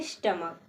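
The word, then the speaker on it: stomach: अंत में सी है लेकिन इसका हम उच्चारण जब पढ़ते हैं तो हम क्या आवाज निकालते हैं स्टमक स्टमक मींस होता है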